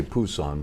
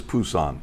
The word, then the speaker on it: Busan: I say Busan, but it's now pronounced, I guess, Busan, right? Busan, With a B. It used to be P.